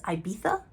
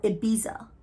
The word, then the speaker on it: Ibiza: most powerful man in, it's spelled Ibiza. In the book, they pronounce it as Ibiza, with a th, or Ibiza. I don't remember. I think it was Ibiza.